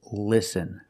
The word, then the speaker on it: listen: But this word is listen. With the short sound like this is.